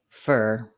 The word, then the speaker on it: for: In Fluent English, native speakers don't say for the word for. We say fur.